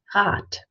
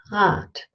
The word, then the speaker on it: Rad: word god' which means wheel or bicycle is pronounced at so place your hand on your Adam's apple and say hot hot and it sounds like a tea and tiger